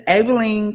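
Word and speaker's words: Abilene: And it's Abelene, Texas. They said Abene. Abi L E N E. Yeah, they pronounce it Abene.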